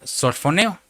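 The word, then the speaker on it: σωφρονέω: sana, que es la palabra G4993, que se pronuncia sorfoneo.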